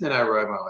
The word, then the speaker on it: NaNoWriMo: right now it's just NaNoWriMo I thought it was more syllables than that National Novel Writing Month